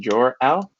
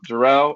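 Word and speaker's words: Jorel: a fun fact is my name actually comes from superman's dad i was actually pronounced jor l but i was telling the team earlier i actually dropped the apostrophe about midway through because i didn't like writing the writing that apostrophe on scantrons it was too much work so now jerrell or jor l what doesn't really matter either one works but that's usually the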